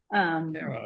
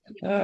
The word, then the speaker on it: Caro: It's pronounced Caro. Caro. Like I really care about y'all. Yeah. Caro.